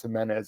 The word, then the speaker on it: Jimenez: Even my dad, he actually pronounced our last name Jimenez. I didn't even know it was pronounced Jimenez until I was like 16, 17 years old.